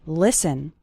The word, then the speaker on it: listen: to an English podcast the letter T is silent in the word listen listen listen to an